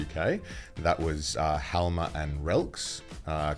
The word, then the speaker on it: RELX: That was Halma and Relx. Correct me Did if he I'm... say those right? We pronounce it Relx. It's Relx.